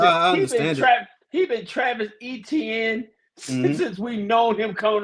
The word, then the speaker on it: Etienne: They did bring in Travis Etienne. Excuse me. He says that it's pronounced Etienne.